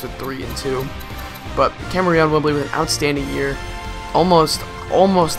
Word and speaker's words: Kamerion Wimbley: I've I promise you people that's how you pronounce it Kamerion Wimbley I looked it up its Kamerion Wimbley 61